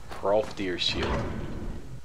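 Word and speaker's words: Hrolfdir: I have problems pronouncing this. Hrolf Deer's Shield. I believe it's pronounced. Rolf Deer Shield.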